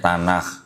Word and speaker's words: Tanakh: Ini tulisannya begini, Tanakh, T-A-N-C-H, T-A-N-A-C-H. Bacanya Tanakh.